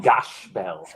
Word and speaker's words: Gash Bell: about it's like what's Zach Bell yeah exactly actually the Japanese they pronounce the zaku Zak they don't say Zach it's called gash Bell really yep so do